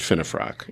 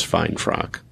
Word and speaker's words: Finnefrock: Which is spelled fine frock, but it's pronounced Finnefrock. Yeah. And I think the first time I had you on the show, I introduced you as fine frock.